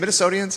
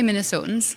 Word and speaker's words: Minnesotans: Is it Minnesotians? Am I saying it right? You can say Minnesotans.